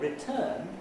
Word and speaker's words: return: But in the word return, which consists essentially of the same segmental material, it's the second syllable, which is the stressed syllable, and it's the second syllable which has received the accent.